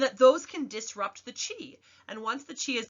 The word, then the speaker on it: Qi: something called Chi so even though it's spelled Qi it's pronounced as Chi like Tai Chi that you see and